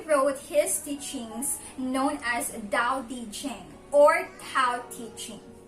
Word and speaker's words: dao: one was hanging opinion which spells dao with d however according to some articles that i've read as well as um some videos that i've watched it should be pronounced as dao so it should be